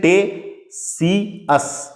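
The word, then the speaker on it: Ctesias: इसको इंग्लिश में टे सी साइलेंट है, टेसियस लिखते हैं, टेसियस है ना।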